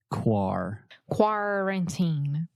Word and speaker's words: quarantine: Okay, the first syllable is where we are having some issues. Quarantine. Yes, the first sound specifically. Sometimes you're saying car, like a car, kaku, but you want to say Quarantine.